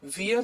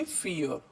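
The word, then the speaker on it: vier: तो पता है हमें कि वी को हम फा पढ़ते हैं, इसलिए हम इसे वियर नहीं पढ़ेंगे, इसे हम पढ़ेंगे फियर.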